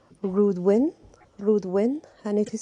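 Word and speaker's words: Reudwyn: rowing spirit is called rudwyn rudwin and it is spelled r e u d w y n but it is pronounced r u d e w i n rude win win the rowing is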